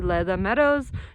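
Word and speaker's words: Le Da Meadows: your driver you want to go there, say Leda Meadows. Don't drive here on your own unless you're a super experienced off-road driver. It's spelled L-E space D-A Meadows if you want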